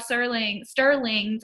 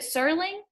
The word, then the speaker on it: Serling: And this is also Rod Sterling's. I think I've been Serling. Is it Serling? Yes. Okay, good. I've been pronouncing it correctly the whole time.